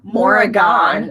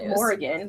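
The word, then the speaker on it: Morrighan: we went to go see Mary and it's pronounced Morrigan which you're like oh not Morgan we're like oh no sure good to know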